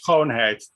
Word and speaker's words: Schoonheid: And, you know, some of the organizers, Fanny Schoenheit, whose name I'm still learning to pronounce, Sebastian, and she's Dutch. Schoonheid.